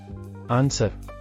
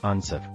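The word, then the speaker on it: answer: ಆನ್ಸರ್, Uttara. Silent letter W. ಆನ್ಸರ್.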